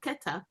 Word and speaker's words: Keta: the name after Koath, who we pronounce as Koath, but it's really Keta.